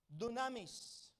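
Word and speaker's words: δύναμις: Pronounced dunamis, spelled dynamis. It's the root word of the word dynamite.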